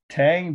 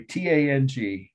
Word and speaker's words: Tang: how i overlooked it tang dynasty camo from tomb sorry tang t-a-n-g dynasty i've heard it pronounced tong but it's spell t-a-n-g sorry one last must